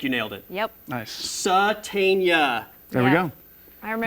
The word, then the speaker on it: Sategna: Satania. There we Yeah. go. I The remember. G is silent. I remember when I first heard that name, everyone, even the coaches were calling him Sategna, and Yeah, everyone yeah.